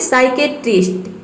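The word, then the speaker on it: psychiatrist: जैसे कि देखिए यहाँ पे है साइकोलॉजी, इसमें पी जो है वह साइलेंट है। उसी तरह से यहाँ पे साइकेट्रिस्ट, नेक्स्ट है साइकोथेरेपी, इसमें भी देखिए पी के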